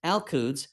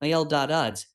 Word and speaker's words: Al-Quds: Jerusalem Hebrew, Yerushalayim, pronounced Jualajim, Arabic, Al-Quds, pronounced Al-Quds, local pronunciation Al-Uds, is an ancient city